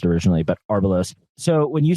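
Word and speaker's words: Arbelos: So I wanted to quickly ask you about um Arbolos. I guess I mispronounced it originally but Arbalos.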